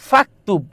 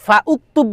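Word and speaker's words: فاكتب: তখন ফাকতুব তখন দেখো এই ফাউকতুব বলি ফাউকতুব বলি কখনো না ফাকতুব বলি ফাকতুব ফাকতুব ফাকতুব এসে সরাসরি কাফকে ধরতেছে মাঝখানে যে আলিফ এটা কি উচ্চারণে আসতেছে উচ্চারণে আসতেছে না তাহলে যেই আলিফ অর্থাৎ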